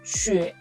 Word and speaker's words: 雪: 雪, 雪, neige, c'est U, c'est pas OU, 雪. Il prononce U, mais pas OU, 雪.